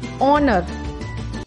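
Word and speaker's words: honour: ऑनर, H silent है, हम इसको पढ़ते हैं ऑनर, साउंड आ रहा है ओ का, ऑनर स्वर है, एन ऑनर।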